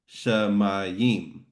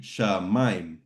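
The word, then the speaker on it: שמים: wasn't there, we would probably say shamayim, shamayim, 3 syllables. Mayin. Yeah, but since you have that accent there, that's telling us that this is what's called a diphthong, which means those vowels sounds go together, and it's in one syllable. So it's actually going to be shamayim.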